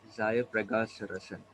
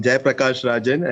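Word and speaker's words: Zayapragassarazan: Hi, I'm Jai Prakash Rajan. Actually, it's written in French. So in Oh, nice. Pondicherry, we have the custom of writing spelling in French. Okay. So you can pronounce it as Zaya.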